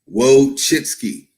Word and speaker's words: Wojcicki: Okay, this is how you pronounce her name. Wojcicki.